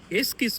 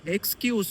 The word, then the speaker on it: excuse: அதுக்கப்புறம் தான் ரேகா சொல்றா, எஸ்கிஸ் மீன்னு சொல்லக்கூடாதான், எக்ஸ்கியூஸ் மீன்னு சொல்லணுமா. அது ப்ரொனவுன்ஸ் பண்ண கஷ்டமா இருந்தா ஒரு ஷார்ட்கட் இருக்கான்.